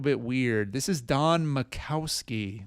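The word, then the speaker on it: Majkowski: This is Don Macowski. The uh the Jay is silent on the Magic Man Champagne.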